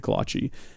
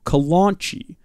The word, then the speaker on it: kolache: my grandmother calls it my grandmother caused the kolache the Kalon Qi Kalon Qi so wrong again pronounces it wrong delightfully wrong but very wrong we've always made fun